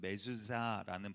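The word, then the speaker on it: מזוזה: 이거를 지금 메주자라는 발음으로 이렇게 이제 제가 일부러 꼬는 것 아니고요. 원래 그런 발음이에요.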